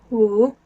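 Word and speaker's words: 五: The number 5 is pronounced Wu, and it's in third tone going down and then up. Wu.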